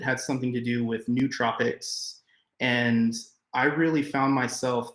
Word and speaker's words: nootropics: what nootropics are and it's pronounced like nootropics even though it's spelled with the double O it's um essentially like